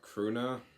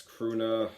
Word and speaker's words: Krvna: it's spelled k-r-v-n-a so usually when it's like that it's usually pronounced croona and then they just add the V instead of the U but like I said